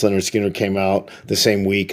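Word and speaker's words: Lynyrd Skynyrd: Southern band seriously um Leonard Skinner's debut pronounced leard Skinner came out the same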